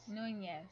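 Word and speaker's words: Núñez: And pronounce the second N like it's a Y. Pretend like it's a Y. Nunez. Nunez.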